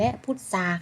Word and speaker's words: พุทรา: ควบ กล้ำ ไม่ แท้ ท้อ ทหาร ควบ กับ ร เรือ นะ คะ ทอง พวก เรา ออก เสียง เป็น โซ่ ทร ปลาย เป็น ซอง นี้ นะ คะ เส้น คำ ว่า ทรง เขา มา ทราบ ทราย และ พุทรา ค่า ใบ ต่อ